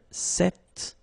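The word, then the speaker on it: cet: it's quite interesting because if you listen carefully the masculine form here set and The Feminine form here set you you write them differently but then you pronounce them the same way all right for the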